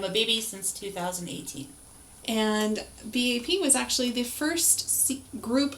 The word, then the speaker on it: BAP: of already went over, which is BAP. In the Korean, it is actually sounded out that way. First character is B, and then the second character is A, third character P.